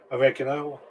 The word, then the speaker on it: oregano: Those cuttings were oregano. I thought they were oregano. That's how I pronounce it. I know some people say oregano. I say oregano.